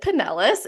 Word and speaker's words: Pinellas: I'm going to butcher this name, is it Pinellas?